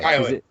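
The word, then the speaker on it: Kay Lee: Is it Kylie? Okay. Kylie. Okay. It's spelled Kaylee, so I was not sure how it was.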